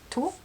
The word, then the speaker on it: Tot: And so basically all of her bases starts with tot, T-O-T, but I suppose you can say tot, basically, if you want pronouncing it English way.